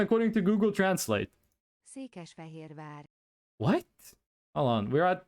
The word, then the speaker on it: Székesfehérvár: Okay, here's the pronunciation according to Google Translate. Székesfehérvár.